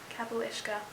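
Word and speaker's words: capaill uisce: sound like a fool they're called kabulishka in the books i'll put a caption right here kapulishka that's how you pronounce it um that's what they're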